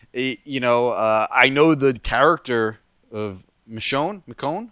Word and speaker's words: Michonne: I know the character of Michonne. How do you say her name? Michonne, yeah.